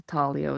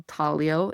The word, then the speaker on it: taglio: have this pizza al taglio. It looks like pizza al taglio, but they don't pronounce the G, kind of like lasagna, right?